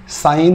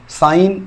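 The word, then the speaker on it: sine: অনুপাত সম্পর্কে জানবো কি সেই ছটা অনুপাত একটা সাইন একটা কস একটা কোসেক একটা সেক একটা টান একটা কট সাইন কস কোসেক সেক টান কট সাইন কস কোসেক সেক টান কট এই ছটা স্তম্ভের উপরে কিন্তু গোটা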